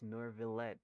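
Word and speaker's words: Neuvillette: in person oh wait oh that's nor villette it's like you pronounce it with like an r and say okay gosh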